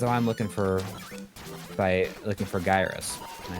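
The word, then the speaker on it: Gyruss: I always call it Gyrus, but it's like in pronouncing the ad, I think it's Gyrus. That's what the ad says. That's what the ad says how to pronounce it.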